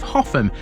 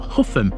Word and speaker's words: Hougham: Rounding off the week in South Castan, we have the village and parish of Hoffam. And yes, that is how you pronounce this. It's not How and it's not Huff or Horn.